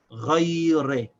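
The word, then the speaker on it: غَيْرِ: it to this ghain, so together we pronounce it ghay. The ghain by itself is gha, and since the ya has sakin, we only pronounce the y sound of the ya, so we say ghay, and then the ra has kasra, so it's re, so this is pronounced ghayre.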